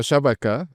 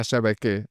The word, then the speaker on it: شبكة: عم لاحظ إنه شبكة متل ما أنا باقولها بالفرنساوي بتطلع شبكة متل ما اللبنانية بيقولوها.